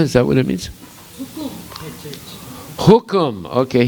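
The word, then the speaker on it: हुकुम: Hukum. Okay, here they spell it Kukum. That must be the Bengali pronunciation. Yeah. Hukum means like a kingdom or the order.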